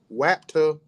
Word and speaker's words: WAPTA: And last but not least, we got WAPTA, and I'm saying it like exactly how it's spelled, so you don't think I'm talking with a lisp.